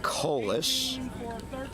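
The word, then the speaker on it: Kaulius: Kas K a U L I U S pronounced Kas.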